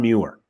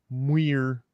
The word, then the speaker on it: Muir: This led me to be quite fascinated with a man by the name of John Muir.